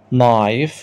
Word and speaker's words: knife: نايف، خلي بالك الكي هنا سايلنت ما بتنطقش.